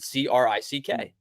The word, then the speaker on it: creek: Creek is the word, but it would be, a lot of people would pronounce it CRICK.